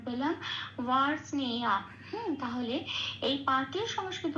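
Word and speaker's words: বার্ষ্ণেয়: কারণ এখানে বয় আকার আছে, তাহলে উচ্চারণটা হবে ওয়া।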